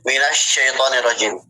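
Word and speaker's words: مِنَ الشَّيْطَانِ الرَّجِيمِ: Nah, jadi untuk syin itu tidak ada hubungannya dengan kedua lisan, kedua bibir. Maka cara bacanya cukup disenyumin. Minas minasyaitanirrajim.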